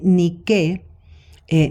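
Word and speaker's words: Díke: esta prohibición ni tampoco ni qué a antígona eh cuando dice ni qu eh Ni que con k y con acento en la se refiere a la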